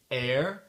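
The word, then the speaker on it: heir: de mots en anglais où on prononce pas le H c'est le H muux ok donc j'ai une petite liste ici attendez les mots sont our leure air l'héritier Honor l'honneur exhausted crevé ou fatigué très fatigué vehicle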